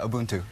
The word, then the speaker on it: Ubuntu: am I saying it correctly Ubuntu Ubuntu yeah Ubuntu Ubuntu what does it mean so uh auntu